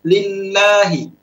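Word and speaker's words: لله: Nah, lam di lafzul jalalah ini dia dibaca tipis, lillahi, lillahi. Dan ini termasuk cara baca yang pertama, muraqqaqah. Tidak boleh kita baca lillahi. Ingat, tidak boleh kita baca lillahi. Kalau kita baca lillahi, ini sudah masuk cara membaca yang kedua, yaitu mufakhamah.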